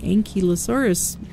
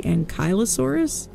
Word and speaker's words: Ankylosaurus: fairly recently learned that I've been pronouncing anky lurus wrong for a very long time apparently supposed to be ankylosaurus impulse beans are they